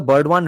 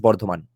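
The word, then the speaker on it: Bardhaman: Composed in the Burdwan region, basically वर्धमान reason, वो बर्डवान भी British उच्चारण है. चलो आज से हम इसको वर्धमान बोलना शुरू करते हैं, एटलीस्ट बर्धमान.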